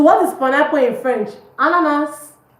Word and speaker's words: ananas: Ananas. Ananas. Ananas. The S is pronounced.